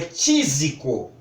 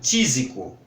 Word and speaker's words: tísico: A pronúncia dela é tísico. E era assim que se falava também, mesmo com essa escrita estranha, tísico.